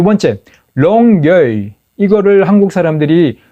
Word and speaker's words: Longueuil: 그래서 그거를 제가 롱게일이 아니고 롱게이다. L 끝에 발음이 안 난다.